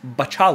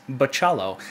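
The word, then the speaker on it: Bachalo: is going to be continuing with artist Chris betal oh he corrected me on Twitter that I said his name wrong Chris Paciello is going to be continuing as the artist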